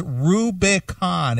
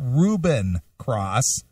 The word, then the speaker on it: Rubicon Cross: you can't pronounce Rubicon it's it's Rubicon it's not Reuben cross and it's not wiy dogs it's The Winery Dogs maybe if you listen